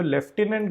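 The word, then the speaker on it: lieutenant: ये बोला की जो लेफ्टिनेंट गवर्नर है देखिए स्पेलिंग आपको लुटिनेंट दिखेगी लेकिन इसको हम लेफ्ट हैंड प्रोनाउंस करता है होप ये चीज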